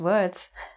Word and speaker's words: word: I think the difficulty with this is the w sound, because I know a lot of my Czech friends, they struggle with that and they say v instead. But if you just make a very nice w, like almost like an O sound with your lips. W, word. And the vowel after the w sound? Word. Word. Like bird. Bird.